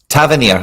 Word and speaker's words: Tavernier: Tavernier, I think, is the most common way it's said up here, but there is like 4 ways of saying it.